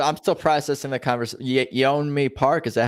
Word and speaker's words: Yeonmi Park: Yeonmi Park, is that how you say her name?